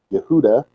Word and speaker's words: Yehuda: wouldn't have had one, Judah, Yehuda, to say it properly, if he came down